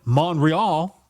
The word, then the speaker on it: Montreal: He was born in Montreal, Quebec, because there's a silent T, and passed away in San Francisco, California.